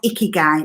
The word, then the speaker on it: Ikigai: And what we're going to do together is an activity based around this Japanese model, which is called Ikigai. Now, I did listen to the pronunciation of that because I'd only ever seen it written down.